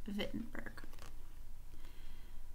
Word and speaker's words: Wittenberg: but we actually in in German they pronounced the W like a V so it's pronounced befitting burg the document was written